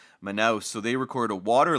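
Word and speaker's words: Manaus: this was the the port of manous I believe that's how you pronounce it m n a u s manow so they record a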